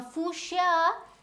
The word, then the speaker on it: fuchsia: is also a bush that is named as fusia okay so fuchsia if you see now fooshya the correct spelling should be shia so do